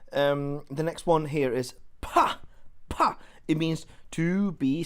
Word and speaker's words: 怕: pa, and then we'll say, sorry, this is pronounced pa.